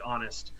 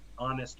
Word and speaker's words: honest: But it doesn't seem to be commonly done today, except for words that you still really don't pronounce the H, like honest, or some people, the way some people pronounce herb. Yes, Armin, an honest man, an honest man.